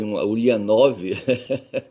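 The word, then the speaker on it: Ульянов: Em russo, falei aí Ulyanov, o V é mudo, tá certo?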